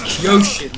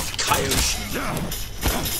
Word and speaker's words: Kyoshin: Well, you keep on saying the name wrong. It's Kyoshin, not Kaioshin.